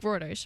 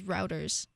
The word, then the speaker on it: Reuters: You say it like Reuters, right? Reuters, yeah. Reuters, yeah. okay. And for some reason, I thought it was Routers.